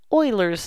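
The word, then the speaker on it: Euler: And before we talk about the natural log, I need to introduce Oilers's number. So, Oilers is spelled like this. Uh, it's pronounced Oiler. It's German.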